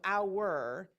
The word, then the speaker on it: hour: hour that is uh there's an ow and an ER so our and if you think